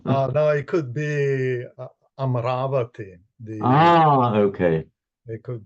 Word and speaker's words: Amaravati: No, no, it could be Amaravati. The Ah, okay. It could be, right? Amaravati. Right. I'm so glad you you um you you pronounce that. So many people say amorovati but amaravati is the correct sukavati and the mean